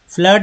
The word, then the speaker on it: flood: फ्लड में FLOOD, फ्लड में double O को बोला गया है अ, फ्लड।